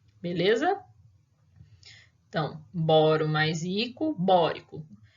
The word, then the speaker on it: bórico: moro mais rico bórico tem gente que a hora que vai adicionar o ico né não sabe onde está a sílaba tônica então acaba falando boiko carbônico nítrico ou sulfúrico sulfúrico e clorídrico não tem nada de seu furico tá chama o ácido